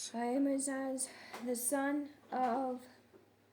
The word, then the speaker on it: Ahimaaz: Verse 19, then A- and Amas- Amas How to pronounce Ahimaaz? Ahimaaz, the son of J- J- How to pronounce Zadok?